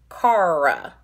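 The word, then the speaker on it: cara: pronounce our r's um you put the r at the tip of your tongue so my tip is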